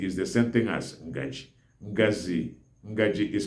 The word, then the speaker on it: ngaji: All spoons are called ngaji or ngazi. Ngaji is the central Igbo.